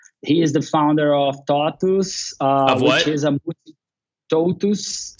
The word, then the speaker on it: TOTVS: He is the founder of TOTUS. Of what? Which is TOTVS. Spell it.